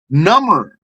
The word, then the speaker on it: number: If I spell it out, it's going to come out like the word number, but the B is silent. Number, N-U-M-B, silent B-E-R, number.